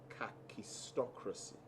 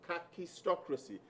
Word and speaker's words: kakistocracy: write out and pass to you the word kakistocracy it's spelled k a k i s it's it's